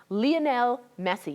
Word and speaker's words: Lionel Messi: protects the biggest soccer star in the world, Lionel Messi. Yes, that's how it's pronounced.